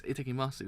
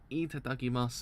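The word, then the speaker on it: いただきます: It's Itakimasu, isn't it? How you pronounce that word? It's Oh no, it's Itadakimasu is how you pronounce it.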